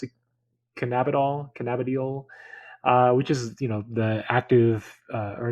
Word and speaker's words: Cannabidiol: that would be infused with, how do you pronounce it? Cannabidiol.